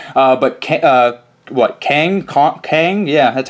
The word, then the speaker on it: Kang: in Dice Masters uh but uh what Kang Kang yeah that's how you say his name I